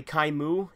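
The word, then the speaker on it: Kaim: things include you know chyme crime is technically Chi mu in Japanese but everyone calls him time and again this video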